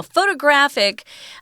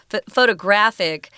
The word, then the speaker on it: photographic: a primitive photographic technology now photographic um actually has the jungian on the third syllable so these are kind